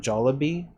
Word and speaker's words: Jollibee: We now pronounce it as jolly jollabi. Isn't it Jollibee? Jol Jollibee. How I've heard everyone else.